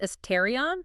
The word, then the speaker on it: Astarion: And that's pronounced Estrion, just so everyone's clear. As Terrarion.